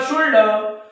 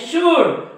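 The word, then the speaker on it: should: शुल्ड काय म्हणतात ते कुल्ड उल्ड शुल्ड पण हे कुल्ड नाही उल्ड नाही शुल्ड नाही हे आहे कुड काय आहे कुड हे आहे वुड हे आहे शुड म्हणजे या डी च्या अगोदर एल हा काय आहे सायलेंट असतो या डी च्या अगोदर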